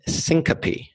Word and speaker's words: syncope: less known heat related condition that's called heat syncope and syncope is a fancy word for fainting how do you spell it sy NC ope okay now heat syncope